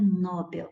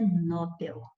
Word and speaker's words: Nobel: Muita gente fala prêmio Nobel. Não é Nobel, é Nobel. É Nobel que é a sílaba tônica, ela é oxítona.